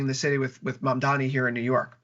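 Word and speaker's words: Mamdani: like what's happening in the city with with Mam Dani here in New York, pronounced it right that time, Victor.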